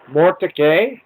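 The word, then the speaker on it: Mortdecai: I'm not even sure I can really even pronounce this uh Mor it's uh m o r t d e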